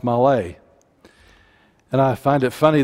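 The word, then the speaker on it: מלא: What's interesting, just a side note for those in English, it is actually spelled male, M-A-L-E in English, but it's pronounced malay.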